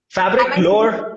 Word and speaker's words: Fabriclore: course you co-founded fabric firstly how do you pronounce it fabric lower uh fabric plus lower lower as in a